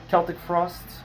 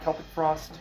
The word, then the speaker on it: Celtic Frost: Celtic Frost, or Celtic Frost, I pronounce it Celtic Frost.